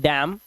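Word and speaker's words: damn: जैसे यहां पर एम के बाद एन आया तो इसे पढ़ते हैं डैम N silent हाईम एनसाइलेंट column N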